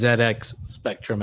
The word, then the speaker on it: ZX Spectrum: I can tell you, it has to be pronounced ZX Spectrum, as many UK people have let me know in my YouTube comments.